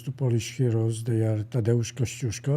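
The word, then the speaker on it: Tadeusz Kościuszko: polish Heroes they are tadaosko I'm saying this in Polish language because even George Washington had a problem to pronounce his name and the other one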